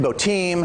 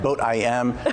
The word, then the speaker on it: Boatim: you got bodum right a lot of people are like how do we even pronounce this bo tim botem okay boat i am bodum actually means boat international marketplace and it can be called all three that's that's just fine and what it is